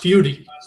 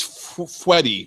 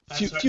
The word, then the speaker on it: Feuti: It's pronounced Feuti. Feuti. Okay, I was thinking it was Feuti. So Feuti. No one ever gets it right.